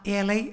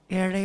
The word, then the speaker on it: ஏழை: ஏழைக்கும் வாழைக்கும்னு பாடிட்டீங்க அதான் லாவும் இல்லாமல் லாவும் இல்லாமல லா ஏழை வாழை அப்படின்னு ஏழை வாழை அதனால தமிழுக்கு முக்கியத்துவம் கொடுத்தீங்க